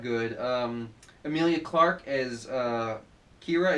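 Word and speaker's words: Qi'ra: good Emilia Clarke is Kira it's interesting it's spelled Qi apostrophe RA not just Kira like ke hi yeah whatever um as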